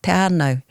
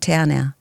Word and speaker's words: Te Anau: And he'd say, hey, have you thought, like we could say it properly, like te ano, not te anau.